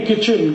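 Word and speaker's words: kitchen: ए कहते नहीं नहीं किचन किचन किच के आईटी क्यों लिख रहे हो टी साइलेंट है क्यों लगाया हटा दो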